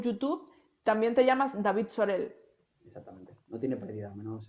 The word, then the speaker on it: Zorel: En Instagram es @DavidSorel, así, tal cual su nombre, Sorel con Z, a veces que yo no pronuncio la Z, pero es Sorel, ¿no?